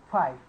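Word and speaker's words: φ: It is known as phi, dear students. PSI, phi. Okay. While pronouncing, we need to say phi, and but while writing, we need to write in this way.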